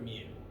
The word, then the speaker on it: mu: it's this or this it's Greek letter mu which is to M like how new is to n ah so it is